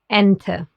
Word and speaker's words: Ente: The letter E is called E in German because it's pronounced like the E in bed or select. For example, in gehen or ente.